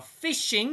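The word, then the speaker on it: phishing: fish fishing and farming now fishing yes you do spell it like that it's not a spelling mistake guys you actually get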